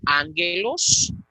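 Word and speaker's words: ἄγγελος: Ya pusimos el primer ejemplo, la palabra ángelos, gamma delante de gamma. La primera gamma va a tener el valor de nu.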